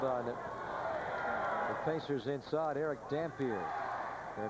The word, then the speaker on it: Dampier: It is pronounced Dampier. It is not Dampier like Louis Dampier. Right, the old shooting guard from Kentucky.